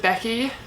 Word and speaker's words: Becky: Also with my name, like with Becky, I have to pronounce it Becky, like the E kind of turns into an A, otherwise they think I say like Nikki or Vicky or something like that.